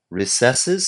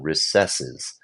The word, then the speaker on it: recesses: Recesses. Um, so I'm just going to say recesses is just a different pronunciation than recesses.